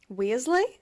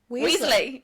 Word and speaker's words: Weasley: can do Ron wearley wezley why did you say it like that who's Ron wezley what's his name Ron we Weasley Weasley Ron Weasley yes saying I can do